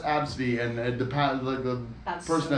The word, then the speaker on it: Abcde: Yeah, their mother named her ABCDE and it's pronounced Absidy, and the That's person so at good.